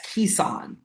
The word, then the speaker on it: Keicon: Is it pronounced Kaikon or am I wrong in that? You are wrong in that. It's pronounced Ean. Ean. Yes. Kissan.